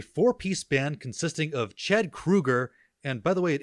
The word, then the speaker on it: Kroeger: So Kroeger, think of shoe, SHOE, that's KROE. Kroeger.